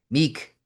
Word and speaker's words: Mick: Meek Meek he always says his French pronunciation of Mick.